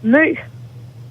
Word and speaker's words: Mø: I mean, in Danish, you'll just say Mø. But I mean, I know for a fact that it's almost 100% impossible to say it if you're not a Danish person.